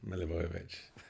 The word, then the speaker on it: Milivojevic: have to remember that there's not an up and down in it. It's all the same. Milivojevic, like Milutinovic, and one or two others from that part of the world.